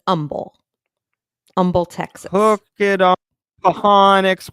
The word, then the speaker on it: Humble: real name there's an Umble Texas and it's not humble it's Umble so even though it has an H the H is silent it's not like humble it's Umble Umble Texas hook it